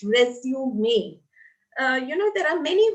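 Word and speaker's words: résumé: cv or resume may by the way it's pronounced resume me you know there are many who say resume it is not resume it is resume me send us your cv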